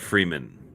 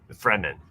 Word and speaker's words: Fremen: Eckhart Freeman. That was an easy one. Fremen.